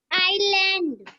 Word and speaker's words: island: Island. Very good Deepika, आइलैंड। यस, अविरल? Yes, ma'am. Ma'am, island. आइलैंड, spelling of आइलैंड? Ma'am, ISLAND. ISLAND. ISLAND. So which letter is silent in this word? Ma'am, S.